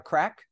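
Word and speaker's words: craic: Isn't the expression to have a crack? Have a great bit of crack, yeah. Yeah, that's it. That's and it. It's spelled C-R-A-I-C.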